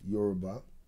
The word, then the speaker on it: Yoruba: Yoruba, yeah.